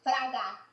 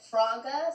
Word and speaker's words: Fraga: frog is me so my last name is fraga it's fraga but at school the teachers would always pronounce it fraga so it sounds like a frog so like my teachers